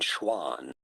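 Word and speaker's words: Schwann: How do you go about pronouncing those two German names? Schliden. Schliden and Schwan.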